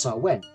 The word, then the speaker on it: Samhain: pre-christian celtic festival called Samhain strictly speaking pronounced so when for the Celts November